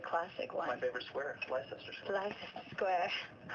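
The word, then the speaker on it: Leicester: translate uh English English cities like gler or leester lerer is is the classic one my favorite Square Lester life Square it's amazing wow also rep Islington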